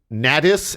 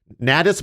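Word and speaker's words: Nadys: got a girlfriend named ntis n a d y s I'm just pronouncing it like glattus but with an N at the beginning yeah ntis Bland in his girlfriend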